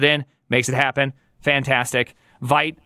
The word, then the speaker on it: Vite: Vite, I still struggle with both pronouncing it the correct way and Vite. Actually having the library version of it. French people across the world are like, that's... I know. You need to pronounce it with its endonym. Vite. That's not even French.